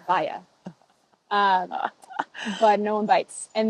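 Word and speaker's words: Walla: I always try and tell people that my name is pronounced Vaya. W-A-L-L-A. Naturally, it's Vaya.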